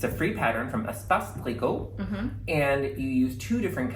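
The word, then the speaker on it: Espace Tricot: It's a free pattern from Espace Plico, and you use two different colors of, I should probably, it's spelled E-S-P-A-C-E space T-R-I-C-O-T.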